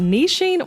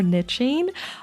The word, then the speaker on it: niche: for this episode about niching or niching Niche or Niche that is a debate of which was the right way to say it I say it literally both ways as you already heard